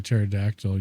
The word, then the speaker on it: pterodactyl: For the same reason that you can't hear you can't hear a pterodactyl use the bathroom because the P is silent, right?